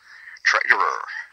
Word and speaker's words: Treiterer: how do you say your last name Trader Trader how's it going good so H